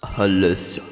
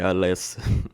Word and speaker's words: Alessa: garota do quadro chamada Ress. É mesmo rapaziada, o nome dela não se pronuncia desse jeito. O nome dela é normal, tá? É Alessa.